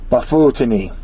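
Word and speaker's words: bufotenine: would be treated as pure DMT or pure bafutini. Bafutini. Okay, that's how you pronounce it.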